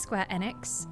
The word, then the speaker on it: Square Enix: I also know because of that it's pronounced square enex.